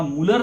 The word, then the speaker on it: Mulder: आता ह्याचं जे प्रोटीन हे जे नाव आहे ते मुल्लर नावाच्या सायंटिस्टनी, म्हणजे मुलर म्हणतात त्याला, MULDER असं त्याचं स्पेलिंग आहे. फक्त डी हा सॉफ्ट आहे.